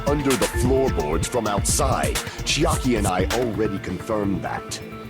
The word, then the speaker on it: Chiaki: Is it Chiaki? Is that's pronounced?